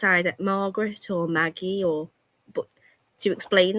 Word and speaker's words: Margaret: Some woman chose a name as she kept saying my name was Margaretti, and I was like, it's not Marguerite. Margaret. It's Margaret. It's Margaret.